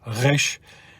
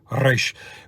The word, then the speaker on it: resh: back of the throat, resh, and then pronounced more from the upper part of the top of the mouth, like a trill in Spanish, like resh, where you roll your R, resh. Both of those are acceptable, by the way, and